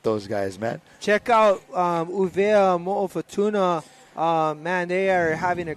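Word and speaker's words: ʻUvea mo Futuna: Uvea Mo'ofatuna is a proper way to say it. I'm no longer saying Wallace and Fortuna. Yeah, I'm saying Uvea Mo'ofatuna.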